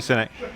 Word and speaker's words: Sinek: Sinek, yeah. I have got a champagne moment. I've thought of it Okay, now, all right. but it's a quick one and a silly one. Go on. Simon Sinek.